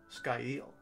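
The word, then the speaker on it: scáil: word foreshadow s-c-a-i-l and hovered over the pronunciation sky eel he attempted to pronounce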